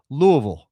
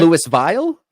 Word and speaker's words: Louisville: It's Louisville. You don't say Louisville, you say Louisville. It's not Lewis Vile?